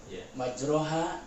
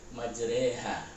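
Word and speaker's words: مجراها: Contoh, majroha dibacanya majreha.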